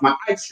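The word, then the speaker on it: ma'aser: Malachi 3:8-10 means tenth in the Hebrew and it's pronounced my eyes.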